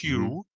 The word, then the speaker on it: HU: Um, and what they believe is when they chant, for example, they chant the sound Hu, which is spelled Hu, pronounced Mhm. Hugh, and they chant it in a specific way.